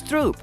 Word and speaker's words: stroop: with creamy caramel syrup pronounced in Dutch as Stroop which is where the